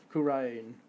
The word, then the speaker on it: Khura'in: Khura'in. There we go, that's how we should pronounce it from now on.